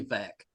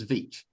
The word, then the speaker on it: Milicevic: I was like, nah, it's probably Vec. It's probably Vec, but it's Vich. So Milicevic.